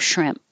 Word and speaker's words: shrimp: the sentence I love shrimp you just close your lips and you don't hear the pee but if there's a